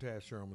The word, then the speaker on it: Taz Sherman: Taz Sherman, that's how it's pronounced.